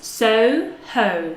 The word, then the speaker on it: Soho: Soho, so two gliding vowels. Soho, Soho.